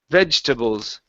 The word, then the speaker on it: vegetables: instead of saying vegetables this e disappears okay we do not pronounce it it's vegetables vegetables vegetables almost you're saying veg instead of vegetables it's vegetables vegetables vegetables